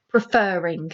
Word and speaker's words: preferring: one is this one preferring if you say that word you do emphasize the fur hence why there are